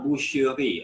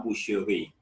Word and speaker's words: boucherie: Le marché, that is market, l'hôtel, and la boucherie, a new word, la boucherie, a butchery, where meat is chopped and sold.